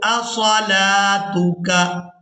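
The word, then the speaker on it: أَصَلَاتُكَ: क़ालू या शुआइबु असलातुका। अब यहाँ पर भी लाम को खड़ी जबर के साथ अदा किया जाएगा, वाव यहाँ पर साइलेंट ही रहेगी।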